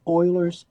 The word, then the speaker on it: Euler: So E is called Eulers number. Okay, Eulers number. So it's pronounced Euler, not Euler, Euler.